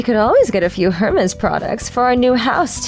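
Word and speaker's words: Hermès: I knew that Hermes was spelled Hermes, so I could understand the mistake, but I restrained myself from lecturing them that you don't pronounce the H in the company's name.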